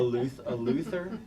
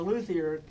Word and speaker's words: luthier: It's a French word, luthier, I believe is how they would pronounce it.